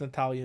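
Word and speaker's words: Natália: natalie silva's i don't i think it's natalia is how you pronounce it okay to light weight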